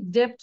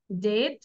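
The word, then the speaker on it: debt: করবো হ্যাঁ ওকে দেন বিফোর টি টি এর আগে যদি বি থাকে সেই বি টা আমরা সাইলেন্ট লাগবো আমরা কি ডেপ্ট বলবো বির উচ্চারণ করবো নো ডেপথ ডাউট ডি ও ইউ বিটি আমরা ডাউট বলবো না ডাউট ডেট ডাউট ডেট ডাউট সাথে সাথে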